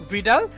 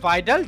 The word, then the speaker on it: Vidal: ডি la blush, বা ইংরেজিতে যখন তোমরা দেখবে সেটি VIDAL, এই জন্য আমি ভিডাল বললাম। আমি ভিডাল দিয়ে উচ্চারণ করে থাকি। তোমাদের বইয়ে যিনি লিখেছেন, আমি যে বইটা দিয়ে তোমাদেরকে পড়াচ্ছি, তিনি লিখেছেন যে কি ভাইডাল ডি লা ব্লাশ, ঠিক আছে?